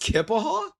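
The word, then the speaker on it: Keya Paha: Kapaha. How do you say that? Kipaha. It's pronounced Kipaha.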